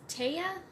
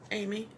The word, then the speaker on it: Amy: Do you say your name is Taya? Amy. Amy? Mm-hmm. Okay. I wasn't sure how to say it.